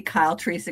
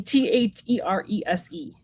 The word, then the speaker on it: Therese: And this is the lovely Therese Cranston. And that is her channel name at Therese Cranston. It's Therese. Oh, Therese. Yep, just an E. Therese.